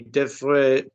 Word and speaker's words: devrais: Tu devrais...